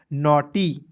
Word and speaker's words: naughty: टी का ट लिखना है, अंतिम में वाई आएगा, इसका उच्चारण बड़ी के रूप में करेंगे, हो जाएगा नॉटी।